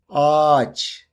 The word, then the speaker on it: ağaç: For example, if you want to say "ağaç" (tree) in Turkish, you can pronounce it like this: AAÇ If you want to say "iğne" (needle), you can say "iine".